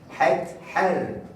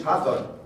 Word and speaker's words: Hathor: Het-Her. Now we pronounce it in Arabic Hathor, and in English Hathor.